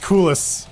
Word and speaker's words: Cool Ice: It's pronounced coolest. Coolest.